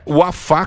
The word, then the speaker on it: Wafá: Mas é o Wafa. Tem acento. Isso, Wafa, tem acento. Então, Tem se acento. você for pronunciar, é Wafa Cadre.